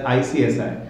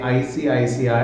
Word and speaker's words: ICICI: I say ICICI I I sometimes really just pronounce it as icsi you know um really flumble at times when I say I see I see I I have to really slowly uh you know